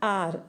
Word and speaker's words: hour: For example, Radha drives the car at 90 kilometers an hour. Either a or r, an or a. Here h, r, here h is silent, so we have to use an.